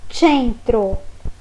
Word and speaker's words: centro: Quando nós tivermos também a sílaba C, a gente pensa na expressão gaúcha che. Então, se você vê a palavra centro escrita em italiano, você vai ler centro.